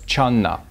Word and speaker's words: Chan: In China, jhana was pronounced as channa.